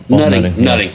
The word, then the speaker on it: Nutting: Yeah, Nutting.